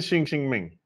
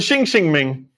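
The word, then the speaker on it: Xinxin Ming: all right so the shing shing Ming is three characters there and the first two are pronounced the same in English anyway shing shing Ming and boy what a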